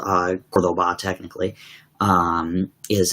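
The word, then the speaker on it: Córdoba: a um there was a city called uh cordoba technically um is how it's pronounced and uh we went there on a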